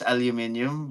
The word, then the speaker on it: aluminium: There's the one without how you pronounce it in Europe is aluminium, but it's aluminum in the Aluminum.